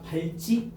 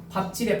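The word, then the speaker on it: 밟지: 두 번째 발찌. 왠지 맞는 말 같다니까. 발찌. 그죠? 발찌가 아니고 뭐래? 밥지래. 밥지.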